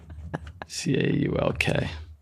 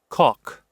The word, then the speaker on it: caulk: All right, so it's pronounced cock. That's how it's pronounced. K-A-A-K is the phonetical spelling of. Really? Yes. Oh wow! I always thought it was caulk. I know. All right, I was wrong. It's cock.